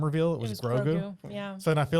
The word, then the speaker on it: Grogu: It's 2 syllables though, kind of like Yoda. I Grogu.